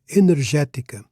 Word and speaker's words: energética: Energetica. Now, energetica, the accent is on the third syllable from last. Normally, Portuguese words are stressed on the one before last syllable, the penultimate syllable.